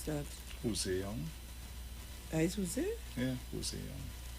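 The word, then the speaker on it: José: Is Jose? Yeah, Jose Young. Spelled like that?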